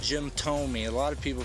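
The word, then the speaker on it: Thome: name is pronounced Jim Tomy a lot of people pronounce it th th to It's pronounced to me like in toe and me you know he was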